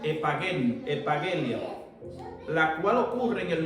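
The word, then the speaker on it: ἐπαγγελία: Más bien, dentro de aquí, de nuestro estudio bíblico, nos dice que la palabra promesa es la traducción griega epageni, pronúnciese epagelia, la cual ocurre en el Nuevo Testamento un total de 153 veces.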